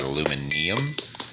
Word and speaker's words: aluminium: just go with aluminum if i say aluminum and you don't recognize it i'm probably talking about aluminium uh however i don't